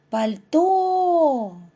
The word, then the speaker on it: пальто: який він за порядком пальто у першому слові наголос падає на другий склад тепер вимовте друге слово